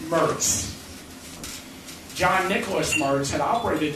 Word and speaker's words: Moritz: m-o-r-i-t-z like moritz but locally it's pronounced mers john nicholas mars had